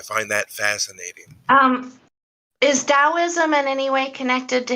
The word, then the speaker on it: Taoism: over here everybody says taoism because that's all the damn chinese movies to it yeah because it's it's spelled with a t but the t is silent yeah i i yeah